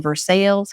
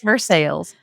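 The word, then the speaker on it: Versailles: and we were in verses Kentucky first time I said it I mispronounced it but vers I would have I did I did but in Kentucky it's for sales okay and uh just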